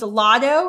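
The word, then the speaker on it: Latto: There was a rapper named Lotto. Is that how you pronounce her name?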